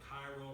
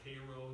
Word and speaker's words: Cairo: We have the upper Mississippi it's called the upper Mississippi from where it starts down to Cairo or Cairo, you can pronounce it either way, basically south of St.